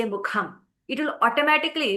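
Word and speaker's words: मुखम्: You will no longer say mukam, you will say mukham.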